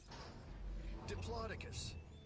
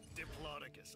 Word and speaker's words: Diplodocus: that it's like is it gonna fit diplodocus it's fun right diplodocus i mean the name diplodocus it's fun to say i am convinced that that line only exists in order to get people to pronounce diplodocus correctly to make sure they don't say diplodocus